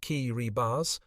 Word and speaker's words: Kiribati: The Gilbert Islands, now the independent nation of Kiribati, pronounced Kiribati, lay across the equator, extending more than 400 miles from southeast to northwest, and covering 200,000 square miles of ocean.